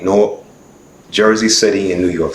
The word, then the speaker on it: Newark: Orange, looking for Newark, I said it right, Newark, Jersey City, and New York City.